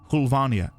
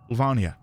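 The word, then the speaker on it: Höllvania: someone said that it's the O is pronounced like the U in PU. So, Hulvania Hulvania on December 31st, 1999.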